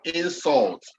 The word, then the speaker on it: insult: When it's acting as a verb, make sure you stress on the second syllable. Like the word insult.